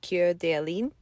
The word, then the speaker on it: Coeur d'Alene: The French pronunciation is Coeur d'Alene.